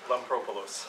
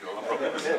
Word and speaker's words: Lampropoulos: These two guys know him better, and maybe could pronounce his last name for you. Okay, good, you all know him. Lampropoulos. Thank you, Lampropoulos.